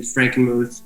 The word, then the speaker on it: Frankenmuth: It was how do you pronounce it? Yeah, Frankenmuth? Or Frankenmuth? Frankenmuth, yeah.